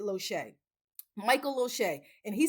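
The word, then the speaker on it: Losier: It's spelled L O S I E R. He's Canadian, but he pronounces it Lohee.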